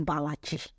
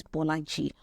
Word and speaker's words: Bolaji: My name is not Balaji. My name is Bolaji.